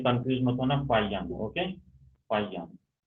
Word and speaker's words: Faxian: तो इसका प्रोनाउंसिएशन आपको आना चाहिए, ओके। इसको बोलते हैं फायान, फा फिर है या फायान।